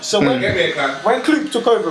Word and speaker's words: Klopp: You're comparing Klopp, by the way, it's pronounced Klopp.